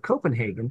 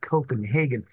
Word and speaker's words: Copenhagen: was a little boy, stressed that you should say Copenhagen, because Copenhagen is how the Germans pronounce it. Yeah. Because of the war, you know, these old ladies wanted to really differentiate that. Neither has very much to do with the way a Dane would pronounce the name of the city that we're talking about.